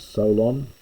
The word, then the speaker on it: Solon: and indeed also the Athenian Man Salon we normally pronounce it as Solon uh who playes us